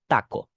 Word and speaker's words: taco: people that's it now consonant T is less explosive in in Spanish and it's more implosive this is not Taco but Taco instead Teno to okay not